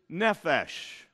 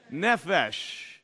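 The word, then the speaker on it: נֶפֶשׁ: to understand this topic the Hebrew word is nephesh say it with me how do you say soul in Hebrew nephesh very good now the reason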